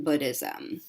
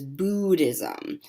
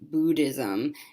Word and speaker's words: Buddhism: so it is Buddhism the vowel sound in Buddhism is the same as the vowel sound in the word good most people mispronounce it